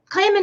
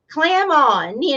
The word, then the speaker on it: Clamon: But it's just clam on. I tell people it's like clap on, clap off.